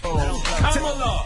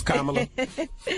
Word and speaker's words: Kamala: Kamala. I said Kamala Harris.